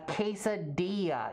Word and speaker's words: quesadilla: And I don't want to be that guy that's just like, well, actually, it's pronounced quesadilla.